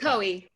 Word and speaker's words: LaCohie: How do you pronounce it? LaCohie.